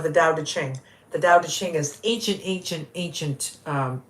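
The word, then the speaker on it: Tao Te Ching: the Dao de Ching it's Dao de Ching is uh the Dao is t-a-o d e um c-h-i-n-g yeah that's how you spell it yeah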